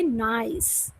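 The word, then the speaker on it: gneiss: Okay, जी से start होता है बट जी is silent, you have to से नाइस.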